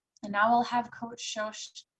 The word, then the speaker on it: Shosh: So Shosh is the traditional nickname for Shoshana, and it happens to rhyme with coach, hence the Coach Shosh.